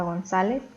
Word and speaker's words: González: debe ser acentuada después tenemos la palabra gonzález que igualmente es grave y como termina en zeta debemos acentuar la la última palabra